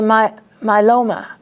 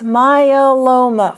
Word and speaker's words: myeloma: They just say myeloma. It's myeloma, 4 syllables.